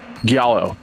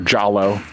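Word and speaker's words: giallo: Italian for yellow uh Galo Galo films oh so the Galo films or jallo however you want to pronounce it um are these tylus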